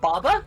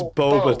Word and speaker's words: boba: whole Is it Baba tea? It's boba tea.